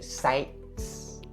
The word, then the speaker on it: sites: So you say sites, sites. So the T sound here is supposed to be stopped. So you say sites, sites.